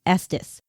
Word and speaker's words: Estes: And yes, it is pronounced Estus, just like Estis Park, Colorado, where it was created.